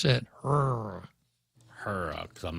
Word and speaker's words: HRRA: How would you pronounce that? Hurrah.